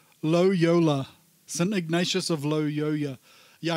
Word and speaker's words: Loyola: Yeah, his name almost sounds like YOLO. Loyola.